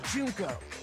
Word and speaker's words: Junko: Junko.